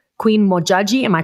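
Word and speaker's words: Modjadji: I want to say Queen Mojaji. Am I pronouncing that correctly?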